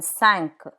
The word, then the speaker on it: cinq: Q, like in cinq, 5, cinq.